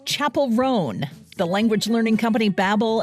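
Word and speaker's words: Chappell Roan: year-end list correspondent Margie zaretta has the most mispronounced names of 2024 the singer of good luck babe it's Chapel rone the language learning company Babel and close captioning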